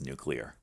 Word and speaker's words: nuclear: it's nuclear nuclear nuclear no it's nuclear three syllables get out of here